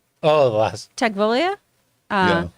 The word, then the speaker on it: Tagovailoa: Tegvolia? Yeah. Tagovailoa.